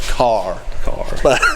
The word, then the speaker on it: Kerr: someone told me that k-e-r-r in north carolinian is pronounced car car but anyhow but car